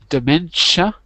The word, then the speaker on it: dementia: okay excellent reading uh about the pronunciation it's dementia dementia yeah Mena yeah the ti is a sh to okay man good and